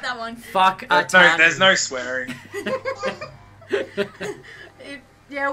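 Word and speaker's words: Whakatāne: And same with Whakatane. It's WH. What was that one? Yeah, you'd like that one. Whakatane.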